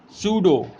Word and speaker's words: pseudo: P will be silent, used before S and N.